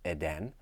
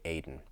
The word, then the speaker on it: Eden: I pronounced the Hebrew like Eden, and that's just wrong. It should be Aden.